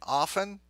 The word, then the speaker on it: often: ask me that question should we pronounce the T in often it doesn't matter all right some people say off other people say often I think I say